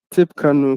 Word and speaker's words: Tippecanoe: How would you pronounce it? Tippecanoe County.